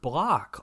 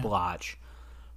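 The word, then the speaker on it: Bloch: guy I think Robert block also Robert block I I believe it's pronounced black it's spelled like b-l-o-c-h so you'd think blotch but he also wrote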